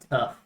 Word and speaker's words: Toph: Her names are tough. Her name rhymes with tough.